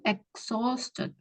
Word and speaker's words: exhausted: Jadi bacanya tuh exhausted. Nah, kayak exhaust fan.